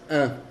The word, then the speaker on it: un: La U y la N y la U y la M tienen la misma pronunciación que es un.